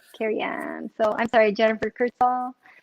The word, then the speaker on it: Carrian: It's Carrian. It looks like you say, everyone always says, "Oh, are you Korean?" No, it's Carrian.